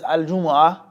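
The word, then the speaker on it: الجمعة: He says Al-Jumu'ah, the well-known pronunciation, the lugha, the specific style of reciting it and reading it is with a Jumu'ah, with a dhamma vowel sound on the jim, a dhamma vowel sound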